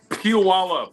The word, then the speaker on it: Puyallup: Pull y'all up, Washington, if that's how you pronounce it. Puyallup. I say it's pull y'all up.